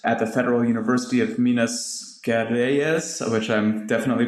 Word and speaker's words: Minas Gerais: It's Minas Gerais.